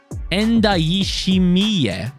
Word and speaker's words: Ndayishimiye: Mustafi, Entezimana, Tete, Ndayishimiye. That's his name. Oh, God, I was saying it wrong this whole time, and I thought I was saying it right.